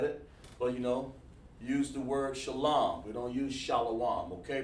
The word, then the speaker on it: shalom: Hey, listen, we don't use Shalawam here. You want to know how to pronounce that word? Just want to help you out here, okay? You're welcome to join class, but we use the word shalom.